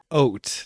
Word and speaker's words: haute: Haute. That's how you pronounce it. I guess H-A-U becomes O.